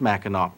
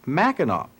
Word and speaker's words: Mackinac: people were inhabiting and they spelled everything with a W but they both pronounce it Mackinac but notice that the